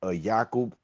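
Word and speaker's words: Ya'qub: about prophets, you know, you might be familiar with the term Yakob. Yakob for Jake. Yeah, Jacob. Exactly. Yakob. This that's how we say his name as well in in Islam.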